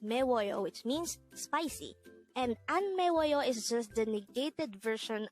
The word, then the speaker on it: 안 매워요: An 매워요. This is pronounced as a 4-syllable word. The first syllable is an, second syllable is me, third syllable is wo, and third syllable is yo.